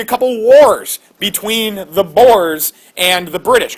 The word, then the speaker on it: Boers: We'll talk more about these people a little bit later in the class, but they're called Boers. B-O-E-R-S.